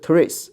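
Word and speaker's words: τρεῖς: 这个当然这个 tr 在英文里面它就是读这个车的音，对不对？比如说这个 try 是吧 try try 它就读车，但是在希腊文里面它是特热啊，它不能合到一块儿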